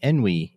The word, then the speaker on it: Enwi: very special guest i have moritz from the enwy youtube channel did i pronounce that correct yeah envy it's it's fine hello from me i forgot